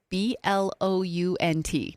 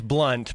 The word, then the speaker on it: Blount: Well, I know it's Blunt, but it's said it looks like Blount, and I screw it up all the time cuz I read it phonetically, but it's Blunt County and it's in it's